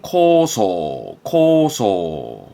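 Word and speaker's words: 構想: 발음은 코소.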